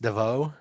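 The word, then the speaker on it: Davout: that in paris studio d-a-v-o-u-t i guess that would be pronounced devoe yeah maybe anything that was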